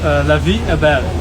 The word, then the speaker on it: La Vie Est Belle: how to properly say it it uh it's pronounced La Abel oh oh so let's yeah so it's a